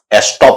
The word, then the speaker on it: estop: ये जो शब्द है ये फ्रेंच वर्ड एस्टॉप से बना है। ESTOP, ई, एस्टॉप। उसको अंग्रेजी में कह दिया जाता है स्टॉप, लेकिन प्रोनाउंसिएशन आप आ रही है, देखिए स्टॉप, एस्टॉप, ई की आवाज आ रही है, लेकिन अगर ये इसको